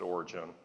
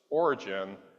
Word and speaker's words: Origen: I'm going to pronounce it Origen.